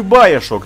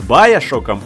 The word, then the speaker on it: Баяшок: Какой нахуй Баешок? Твоим, блять, английским можно англичан пытать. Ой, дурак. Я, наверное, уже раз 5 поднимаю эту тему с Баяшоком, и, кстати, не зря я произношу именно так, потому что так правильно, и это, блять, очевидно.